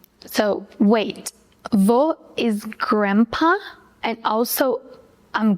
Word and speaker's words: vou: That's vou. It means I go, I'm going to, and I will. But in spoken Brazilian Portuguese, we say vou. So wait, vou is grandpa and also I'm going?